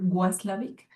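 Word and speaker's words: Watzlawick: Yo dije, es como Paul Václavic, que se escribe con W, Václavic.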